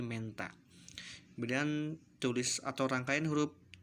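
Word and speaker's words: Mentha: Kemudian huruf T dan H maka diucapkannya H-nya hilang, hanya huruf T-nya saja. Contoh tulisan Menta maka dibaca menjadi Menta.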